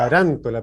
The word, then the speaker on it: Tarántola: Quiero corregir mi apellido. Desde chico tuve bullying, entonces es Taranto, el acento en la segunda. Tarántola, perfecto, Tarántola, sí.